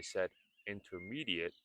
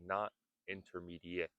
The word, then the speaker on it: intermediate: Notice I said intermediate and not intermediate. The T sound is silent.